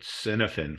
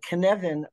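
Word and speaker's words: Cynefin: and he's you know he's talking about the knead and that it's a Welsh term I know it was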